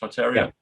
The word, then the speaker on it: Tartaria: Am I saying it right, Mark? Tartaria?